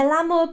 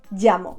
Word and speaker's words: llamo: In English, we don't really pronounce the double L. So you normally tend to pronounce the double L as one L.